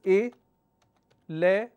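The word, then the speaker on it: eleven: Same thing happens with the word 11. The actual pronunciation is E-le-11. But we pronounce this as 11. So instead of 3 syllables, we are only saying 2 syllables.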